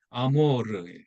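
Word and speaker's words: amor: 아모르. 그 어느 가수가 왜 뭐 아모르 파티라는 노래를 불렀잖아요. 그때 그 아모르. 네, 알 발음은 굴려야 되는데 뜻이 뭐냐면 사랑이잖아요.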